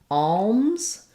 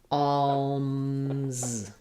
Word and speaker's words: alms: the word alms so this is the ah vowel the UL sound the um and the sound so it sounds like alms which is not easy because I'm going from the oh all closing to the m and then opening again for this alms alms for the poor